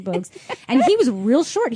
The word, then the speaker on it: Bogues: I want to say Bowles, but I'm pretty sure it's Muggsy Bogues.